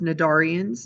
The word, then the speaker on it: cnidarians: These animals are known as cnidarians. Note that the C is silent.